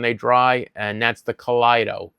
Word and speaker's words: Kaleido: And that's the kido. K a l e i d o or i e. It's spelled like kaleidoscope.